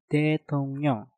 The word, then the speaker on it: 대통령: tung diakhiri dengan nyeng, setelah itu diikuti dengan kata yang diawali real. Maka realnya kita rubah menjadi suara nyen. Maka pengucapannya menjadi 대통령, 대통령, 대통령.